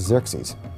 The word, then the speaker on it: Xerxes: And the Greeks said Xerxes, which is Xerxes. Okay? He was the husband of Queen Esther. The young girl Esther lived during the Persian period, during the time of Xerxes I.